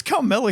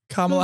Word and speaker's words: Kamala: Who's Carmela Harris? Kamala Harris. Is that how you say it? Oh, yeah, that's right.